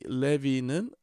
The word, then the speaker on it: 레위: 레위. 에, 이게 이제 우리말로는 레위라고 읽지만 히브리 말로 정확하게 읽으면 레위가 되죠. 레위. 에 그래서이 레비는에 그 라바 동사에서 왔어요.